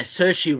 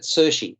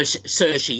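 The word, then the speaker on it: Saoirse: satire and uh uh Cersei Ronan that's how she pronounces her her name Sushi is it sushi so cershy yes she's Irish and uh it's definitely Sushi is it okay so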